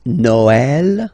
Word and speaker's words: Noël: The last one, tréma, well, basically it's quite rare, and the tricky thing is that in some cases you will have to pronounce it like eh, okay, like for instance Noël, okay, but then in some cases as well it can be pronounced like e, okay.